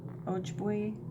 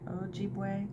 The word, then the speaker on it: Ojibwe: for the Stars we look to the ojibua ojibwi I'm mispronouncing that I'm sorry Ojibwe tale of the star Maiden a magical creature